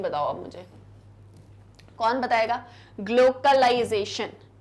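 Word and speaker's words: glocalization: ग्लोकलाइजेशन, ये ग्लोबलाइजेशन नहीं है, ये है ग्लोकलाइजेशन।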